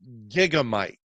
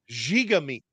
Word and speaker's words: Gigamic: It is not Gigamic, that French publisher that's Gigamic, who published Loot. It's Mhm. Gigamic. That is It's French.